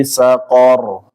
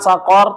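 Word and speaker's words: سقر: Sedangkan sakor tidak ya, Bapak, karena huruf qaf. Qaf tidak ada aliran anginnya. Fi sakor.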